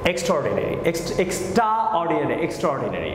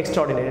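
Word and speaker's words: extraordinary: next example, এক্সট্রা অর্ডিনারি, আমি কিন্তু এর উচ্চারণটা করছি না, দেখেন এক্সট্রা বলছি না, এক্সট্রা অর্ডিনারি উচ্চারণটা হবে এক্সট্রাঅর্ডিনারি, নট এক্সট্রা অর্ডিনারি, এক্সট্রাঅর্ডিনারি, ওকে, এটা হলো অ্যামেজিং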